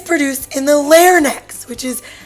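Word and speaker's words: larynx: produced in the throat it's produced in the layer necks which is spelt lk r and x claire necks that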